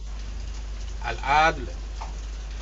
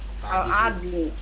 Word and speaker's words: Al-Adl: Al-adl. La-nya itu ada di atas mati. Tadi Al-adli.